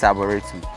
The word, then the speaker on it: Arboretum: I know it's called Bonsu Eco Park, and it's also called Bonsu Arboretum or something like that. Am I pronouncing it well? Yeah, it's Arboretum.